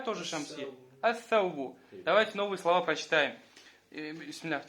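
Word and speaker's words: الثوب: Саубун, ас-саубу. То есть с алиф-лям будет ас-сауб. Не аль-сауб, а ас-сауб.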